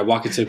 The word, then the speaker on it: Wakatipu: was looking over what how do you say it like wakatipu just making sure i say it right yeah walk it tip yeah okay um and